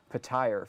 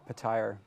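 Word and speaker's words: Petyr: If anybody listens to the audiobooks, his name is pronounced Patire for 3 or 2 books. I forget how it is. No kidding. Yeah, Patire. And then suddenly in the audio recordings, it changes to Peter.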